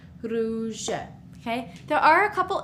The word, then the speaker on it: rouge: Here we have u makes the sound oo, oo. So with the r in front, it's r, ru, rouge.